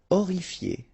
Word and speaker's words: horrifié: Horrifié, same thing here, you don't pronounce the H, horrifié.